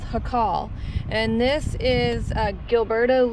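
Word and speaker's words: Jacal: were passing by and it's called luna's it's pronounced hakal and this is uh gilberto luna and he raised a family in this um homestead uh until 1947.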